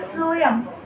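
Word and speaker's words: phloem: एफ for food and एफ इट्स मतलब पीएच है तो इसका प्रोनाउंसिएशन फ्लोएम होता है.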